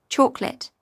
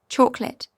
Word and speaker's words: chocolate: British, chocolate, fewer syllables, smoother American. Chocolate, same, but sometimes more crisp.